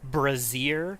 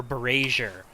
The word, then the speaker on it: brazier: there I'm sorry I I hear this word pronounced either brazier or beret sure all the time and I'm like okay okay have you ever welded in your life have you ever heard the term brazing have you heard that